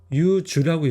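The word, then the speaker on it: 柚子: 그래서 이거를 유주라고 읽어요. 유자를 유주라고 있습니다.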